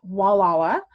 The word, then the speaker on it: Gualala: name gualala so i pronounce it but it's pronounced walawa and again if you could go to that